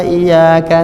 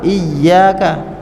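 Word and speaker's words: إِيَّاكَ: Engkau kami minta tolong, kalau dilafazkan dengan benar iyyaka. Tapi karena bacanya enggak tepat iyyaka, artinya menjadi hanya kepada matahari kami menyembah, hanya kepada matahari kami minta tolong.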